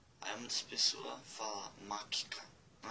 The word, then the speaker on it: mačka: Mačka, mačka. Por exemplo. Nesse mačka não tem um TSH em croata.